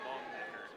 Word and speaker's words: Longnecker: The E is silent, so long necker.